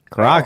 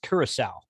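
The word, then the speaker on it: Curaçao: Caraco. No, I got it. I think Caraco. that's pronounced Curacao.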